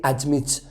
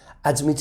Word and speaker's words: admit: Now, another interesting point here to point out is that we don't say admit. Admit is wrong. The pronunciation is admit, stresses on the M, and it starts with a schwa.